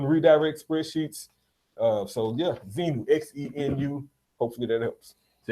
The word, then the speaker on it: Xenu: mentioned the tool called Zeno um or something sounded like that in episode 357 of the hash besto podcast what's the real name Andy great question it is zenu but it's spelled Xenu it's from a company